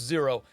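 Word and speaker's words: Xero: another one called zero it's spelled funny x e r o but it's pronounced zero now zero online is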